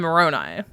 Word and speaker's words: Moroni: of Mormon, Alma and Moroni, or Moroni. I've heard people pronounce it both ways before I get hateful emails.